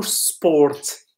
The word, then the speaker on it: sport: باي ذا واي، اش كنقولوا؟ سبورت، كنقولوا سبورت. اوكي سبورت. سبورت بلا ار، هذيك ار ما كتنطقش.